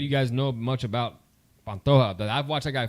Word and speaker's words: Pantoja: Pantera. No, Alexandra Pantoja. Pantoja. Yeah. That fight's gonna be that's an interesting fight, man. Because I don't know if any of you guys know much about Pantoja, but I've watched that guy fight, man.